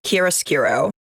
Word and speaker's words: chiaroscuro: Worlds season 4 episode 4, a case of chiaroscuro. And yes, I checked, that's how it's pronounced.